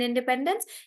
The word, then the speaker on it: independence: I think infrastructure Independence so the stress is on pen in Independence Independence reception so the